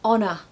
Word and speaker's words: honor: but it's actually silent same goes with honor okay these are silent H's to be honest I